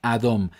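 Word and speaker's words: אדום: cambiamos estas vocales También tenemos las mismas letras alef dalet y memofit Pero en cambio tenemos la vocal a y la vocal o se pronuncia adom que significa rojo en Entonces al cambiar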